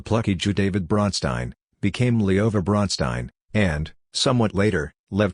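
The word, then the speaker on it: Лёва: Pronounced Leova, this was the Russian diminutive of Lev.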